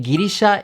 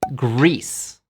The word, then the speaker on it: Greece: How do you say Girisha in English? You don't say Girisha, you say Greece.